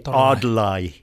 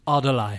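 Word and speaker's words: atlai: But the Mi'kmaq not having an R nowadays, that R assimilated to an L. So now we say Adlai instead of Atorai. Adlai.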